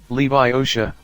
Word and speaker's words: Leviosa: her my unnie snap its Wingardium Leviosa make the GAR nice and long you do it then